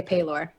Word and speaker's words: Pelor: Oh, I don't say Pelor. I say Paylor. I don't say pay like payday, like P-A-Y. I say pe.